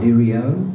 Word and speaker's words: Nereo: of my name, because it can be either Nereo or Nereo or Nereo. Now the last one, Nereo, is actually the correct Italian pronunciation, and some of you have even tried to say that.